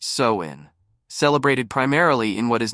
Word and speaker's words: Samhain: Halloween's origins can be traced back over 2,000 years to the ancient Celtic festival of Samhain, pronounced Samhain, celebrated primarily in what is now Ireland, the United Kingdom, and northern France.